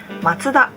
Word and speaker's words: Mazda: they spell like this because our pronunciation is different Japanese speakers call them matsuda matuda was established by